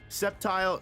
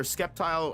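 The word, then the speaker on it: Sceptile: Septile or Skeptile. I used to call it Skeptile when I was a kid. Maybe that's the correct way to say it, but Septile um one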